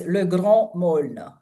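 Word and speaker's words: Le Grand Meaulnes: um, Well, getting back to it, would you pronounce the name of the novel for me? Le so Grand the novel, yeah, it's Le Grand Maulne, which is hard to translate.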